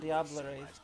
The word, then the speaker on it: Diablerie: Diablerie.